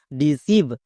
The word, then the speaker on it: deceive: খুবই সিম্পল নিয়ম, যে কোনো শব্দে যদি আই দেখতে পাও তার জন্য হস্যিকার সাউন্ড করবা। যেমন DECEIVE, সিভ, ডিসিভ।